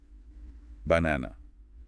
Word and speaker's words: banana: Yeah, like for banana, you'd hum the second syllable a bit longer and maybe slightly higher pitchm, then say the word banana.